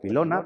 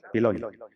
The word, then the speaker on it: Piloña: Dirán piloña, o a saber, pero bueno, o pilona, pero piloña.